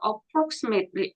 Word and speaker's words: approximately: 여기 t가 발음이 안 돼서 approximately 이렇게 발음합니다.